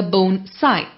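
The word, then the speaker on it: bonsai: tree in a small container the word is pronounced a bone sigh the main definition of bone sigh as an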